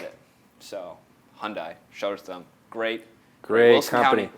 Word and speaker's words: Hyundai: great people great cars Wilson County Wilson County Hyandai get out there Hyundai it's not you pass the test you passed